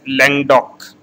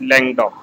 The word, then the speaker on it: Languedoc: Bordeaux, Côte du Rhône, Provence, and it is pronounced as Languedoc. It is, again I am pronouncing it, it is pronounced as Languedoc.